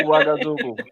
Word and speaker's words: Ouagadougou: Everybody sees that word, and we don't attempt to pronounce it. Right, it's Ouagadougou. Yeah.